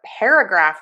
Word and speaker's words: paragraph: 4 syllables. We are going to have the main stress on pair. Move your mouth for that air vowel. Air, pair. Schwa sound, love it. Graph, and then mark.